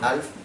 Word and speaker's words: half: Luego tenemos acá el tipo de comunicación, es half duplex, se pronuncia igual que el mono de la tele, half.